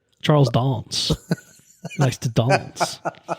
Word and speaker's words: Charles Dance: How does he pronounce how does he like how is he known? Charles Dons.